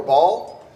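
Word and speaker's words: Baal: Wicked King worshiped um the southern pronunciation is either Bale or ball um you know for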